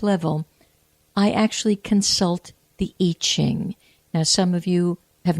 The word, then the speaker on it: I Ching: some of you have heard it pronounced Yi, like Y-I or Y-E-E, Ching, C-H-I-G, and it has to do with changes. So the Yi Ching or the I Ching is what is called the Book of Changes.